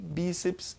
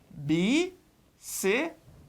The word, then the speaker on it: bíceps: A divisão é bíceps. Tranquilo? Bacana? Então ela é paroxítona terminada em PS.